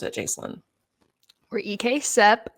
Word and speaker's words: EKCEP: the first thing is like how do we pronounce it jaselyn we're EK sep not except not ekc ekp Eastern Kentucky concentrated employment um whoa sorry